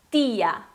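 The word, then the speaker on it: tía: Mas no caso, cuidado quem fala tia em português para não falar tia em espanhol, né? Então é tia, bem suave, ok?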